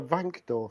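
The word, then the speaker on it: Wankdorf: We are in the what we well actually in German I'll pronounce it properly. It's the Vancor stadium.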